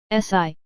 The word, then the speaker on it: Si: Si, pronounced like sir with a slow exhale, which is associated with the lungs.